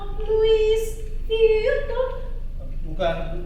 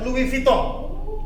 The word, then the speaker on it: Louis Vuitton: Louis Vuitton. Bukan Bu, itu dibacanya Louis Vuitton.